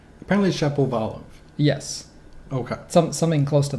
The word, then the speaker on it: Shapovalov: Well, I mean, to be fair, when he corrected everyone on the pronunciation, it was a very Canadian pronunciation of his own name. Apparently Shapovalov.